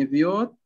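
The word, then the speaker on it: ⲉⲫⲓⲱⲧ: نطقت دي إزاي معلش إفيوت هي إف إف يوت مش إف يعني كتير قوي الفي دي بتاخد ف لا هي إف يوت مش إف يوت إف يوت إف يوت ليه لأن لو قلت إف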